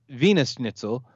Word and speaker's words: Wiener Schnitzel: It's actually pronounced Wiener Schnitzel.